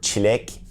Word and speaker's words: çilek: Then we have the same letter with a cedilla underneath it, C cedilla. You might have seen this letter before if you speak Albanian, French, or Portuguese. It is pronounced Ç in Turkish. It's the Ç as in chair.